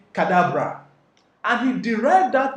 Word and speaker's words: Cadabra: they actually thought that he was pronouncing cadavra instead of cadabra that was when jay